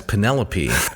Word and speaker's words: Penelope: in everyday speech sure so I thought that the individual's name was penelopee I didn't know that she was called Penelope uh similar to when